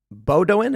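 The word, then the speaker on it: Bowdoin: in Leon and Bodin uh bodoin is how you pronounce it and also Portland the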